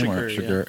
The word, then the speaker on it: Chigurh: That's how you pronounce his name? Chigurh.